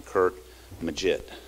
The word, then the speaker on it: Curt Maggitt: Jones UM quarterback Josh dos linebacker defensive lineman Kurt maget did I pronounce that right yes sir good good thank